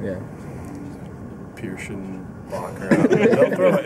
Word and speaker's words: Pierschbacher: Did they pronounce it correctly? Yeah, I think Eli Gold corrected him and said Pierschbacher, so that would be a first if he said it.